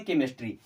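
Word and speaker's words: chemistry: है केमिकल और रा कई सारे ऐसे वर्ड्स है जहां पर सीच आता है तो उनका उच्चारण हमें का की तरह करना पड़ता है मैक्सिमम ऐसे केस में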